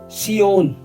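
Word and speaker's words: צִיּוֹן: ये असामी लफ्ज है तो जब उसको इब्रानी में प्रोनाउंस किया जाए तो सियोन यानी किलास से जुड़ा है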